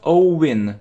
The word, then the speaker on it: owing: Yeah, and make sure you pronounce it correctly. Not owing, not owing. We don't pronounce w.